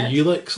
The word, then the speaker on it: Ulix: Alex. I'm probably killing it, as I normally do with names and stuff. But no, I would say that's right. Ulix. We would say Ulix, like Ulysses, or Alex, like, I don't know, Udder.